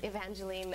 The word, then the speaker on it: Evangeline: i noticed that um evangeline on the prompter is about e-e-n to get you to say it right that's very sweet once